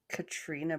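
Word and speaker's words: Caitríona: Because even the girl who plays Claire, her name is like Katrina Balfe, but it's spelled all like Celtic-y.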